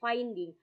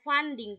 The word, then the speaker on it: funding: Tadi saya dengarnya finding. Fun harusnya funding. Fun itu biaya. Oke. Kalau finding itu menemukan iksan, beda.